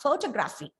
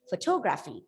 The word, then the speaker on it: photography: so one two see the third last syllable is stress that is photography it's not photography look at the difference